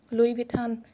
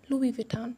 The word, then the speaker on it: Louis Vuitton: Brands are really expensive well I गॉट अ Louis Vuitton card holder, yeah, you got me right. This is pronunciated as Louis Vuitton. Louis Vuitton. Louis Vuitton.